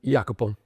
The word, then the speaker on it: Jacopo: your name so that people will hear it pronounced correctly the first time. So let's start. So I'm Jacopo.